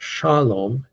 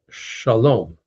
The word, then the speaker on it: shalom: Word most of you know again accented on the last syllable. It's not shalom. It's shalom. unless it's in poetry or a song.